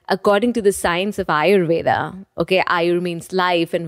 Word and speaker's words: Ayurveda: A-Y-U-R-V-E-D. Ayurveda. Okay. So Ayur means life and Veda means science.